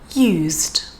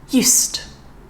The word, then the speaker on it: used: the letter s so the first one is the z sound again and that's going to be for the verb again but of course this